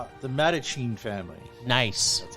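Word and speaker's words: The Mattachine Family: The Madachine family.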